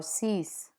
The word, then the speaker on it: six: Final consonants are pronounced in numbers, like cinq or six.